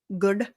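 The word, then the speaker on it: gur: like G but like it's pronounced good and it's like girl it sounds like good to me you know I mean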